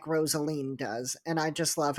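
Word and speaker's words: Rosaleen: character of is it rosalene Rosaline how was it pronounced rosalene so like Rosalie but with an in like Jolene you messed up my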